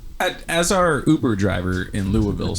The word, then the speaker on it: Louisville: our Uber driver in Louisville said how heavy can you be it's pronounced Louisville lville forville how heavy can you